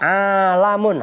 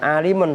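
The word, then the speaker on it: عَلَم: Yutlaku itu diucapkan alaihi atas kullun minha apa alamun harokatin, bukan alimun tapi alamun.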